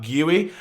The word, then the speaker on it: Guiu: I believe that's how you say his name, not just Guiu, it's like Guiu.